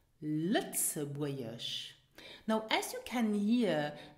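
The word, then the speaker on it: Lëtzebuergesch: Lützeburgisch. Lützeburgisch. Now as you can hear, the letter G is not pronounced here. It is silent.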